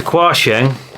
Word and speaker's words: Quansheng: I'll show you what I got it's the question that's how you pronounce it um model UV K5 8 in